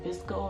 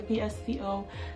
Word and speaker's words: VSCO: Then the next app I have is called VSCO, as in Visco. I'm not sure if that's how you pronounce it or you actually say VSCO.